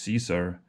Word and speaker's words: Caesar: Caesar, or, I'm usually, when I'm pronouncing Latin names and places, I'm going for the hard C usually, but I will do an exception with Caesar because, that's just the best known name that he's known under.